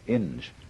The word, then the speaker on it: Inge: His name was Ralph W. Inge, or Ing, I think it's pronounced.